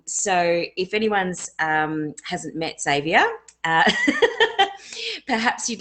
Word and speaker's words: Xzavia: You keep dropping the X on my name. It's Xzavia. Oh, I'm sorry.